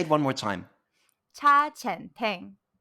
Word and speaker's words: Cha Chaan Teng: Cha Chaan Teng. Cha Chaan Teng.